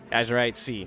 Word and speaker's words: Azurite Sea: Azurite Sea. That's how it's pronounced.